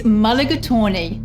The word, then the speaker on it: mulligatawny: It's quite a mouthful, the pronunciation that is. It's mulligatawny.